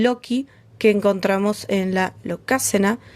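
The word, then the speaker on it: Lokasenna: que encontramos en la locácena. Sí, en el capítulo anterior le dije lo locaena, lo pronuncié mal, la entonación era loca, mis disculpas.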